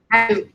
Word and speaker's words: Caio: How do I pronounce it? Caio. Yeah. Caio.